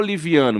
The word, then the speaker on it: Livianu: Mas a pronúncia é paroxítona.